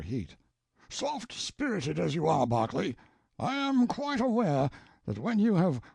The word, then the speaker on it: Berkeley: Banks, Sellers, Vic Count Berkeley of Chalmundi Castle, Warwickshshire. Pronounced Cubri Flanover Marshbank Sellers Viccount Barkley of Chumley Castle, Warshire.